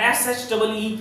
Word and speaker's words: sheep: SHIP is ship and SHEEP is Sheep.